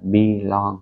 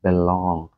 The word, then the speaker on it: belong: Mình không phát âm là belong nhé. Mình phát âm là belong. Cho âm chính là âm thứ số 2, belong.